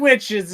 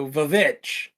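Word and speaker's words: The VVitch: witches in a serious movie, and it never works Which out. one? The Vavitch.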